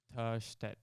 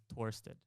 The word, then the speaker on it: Törstedt: So it's Törstedt. So, but you can call me Torstedt, as like in the American, in American pronunciation. so the American way would be Torset, but then the Swedish. Yeah, Torstedt, and Swedish Törstedt.